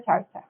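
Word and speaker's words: xarxa: Yo no sabía pronunciarlo, tengo una amiga que habla catalán y dice que se pronuncia charcha.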